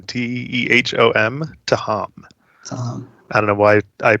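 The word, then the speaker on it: Tehom: on that is fair uh so the official pronunciation is to ham t-e-h-o-m to ham i don't know why i put that out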